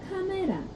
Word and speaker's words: 카메라: But if you pronounce it too much like the English word camera, no Korean person will really think that you're speaking Korean.